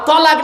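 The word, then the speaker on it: طلاق: শব্দটা কিন্তু তালাক নয়, শব্দটা তালাক নয়, শব্দটা হলো তলাক।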